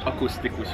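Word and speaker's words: akusztikus: So you say it like akustikus gitar.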